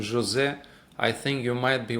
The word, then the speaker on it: Jose: When the my name sometimes they even spell H O S E been pronounced Jose in in United States very common someone who is Jose they call Jose that is we I have